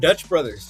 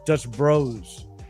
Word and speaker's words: Dutch Bros: Um, so you can afford Dutch Brothers. You don't have to go Duncan. I don't think you'd like that. I'm Duncan. Hey. Hey, Leo. Say it right. It's Dutch Bros.